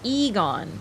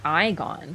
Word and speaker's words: Igon: off Egon Eon it's a stupid name it's pronounced Egon not igon thank you remember his name I remember it's